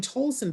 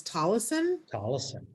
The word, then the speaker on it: Tolleson: wrong all these years i've been saying tolson but it's tollison i i beg your